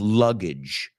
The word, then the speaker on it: luggage: And let's look at the pronunciation of luggage. Luggage. That's right, folks. Baggage. Rima con bridge.